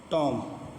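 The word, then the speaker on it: tomb: بلکہ boom, be silent, ٹھیک ہے۔ اسی طرح ٹام، بی سائلنٹ، بھی نہیں پڑھی جائے گی، ٹام۔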